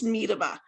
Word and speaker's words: Miedema: How do you say my last name? It's Miedema. I know you'd never get that.